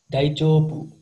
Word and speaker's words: 大丈夫: Di bahasa Jepang, Kalau di bahasa Jepang, cara bacanya daijobu.